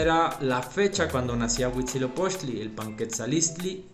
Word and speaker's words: Huitzilopochtli: nacimiento de huchi lobos porque no sabían a veces pronunciar no el náhuatl huichilobos era huitzilopochtli dice Entonces esta fiesta era